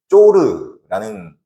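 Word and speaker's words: צור: 히브리어 원어를 보면 두로는 쪼르라는 어 발음 후에 히브리어를 씁니다.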